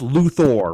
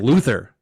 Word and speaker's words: Luthor: luthor porky pig special hey speaking of it's pronounced luthor right yes justice league they kept saying luther hey luther hey luther hey luther pretty much